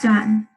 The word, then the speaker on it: Xuan: Xuan. How do you say that? It's pronounced sun, like the sun in the sky.